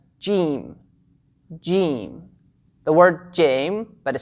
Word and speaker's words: ج: Remember that the name and the sound of this letter, the letter Jeem, are a bit different. So the name is the letter Jeem, Jeem, stretch the sound, Jeem, and the sound that we focus on is the sound Ja, Ja.